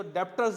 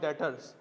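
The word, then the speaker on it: debtors: अब एक बच्चा बोलेगा ये तो डेप्टर्स लिखा है। ओ भाई बी साइलेंट है। It's called डेटर्स।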